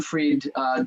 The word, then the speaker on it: Fried: inventor I guess to be brain fried freed calm is my website and my other my